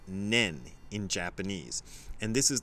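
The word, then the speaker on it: 念: to and this is the word and it's pronounced nen in Japanese and this is the word that's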